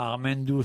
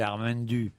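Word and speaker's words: Ar Men Du: C'est pas Armendou, c'est Armendu.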